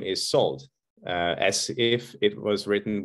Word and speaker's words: Szold: the last name is so as if it was written with an s in Hungarian s and Z together are to be pronounced as s and very often I